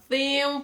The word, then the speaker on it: theme: theme theme park guys I know it's really terrible to pronounce the th in English because I hate it until nowadays what you have to do you have to put your tongue between your teeth okay and then you say theme park it's like